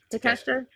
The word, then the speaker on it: Takeshita: Am I pronouncing his name right? Takeshita.